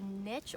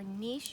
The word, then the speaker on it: niche: time to talk about a niche or nice you hear both ways both pronunciations are okay right here we have